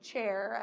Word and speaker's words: chair: gross um in french flesh is the name chair as we spell it c-h-a-i-r and cooked is cute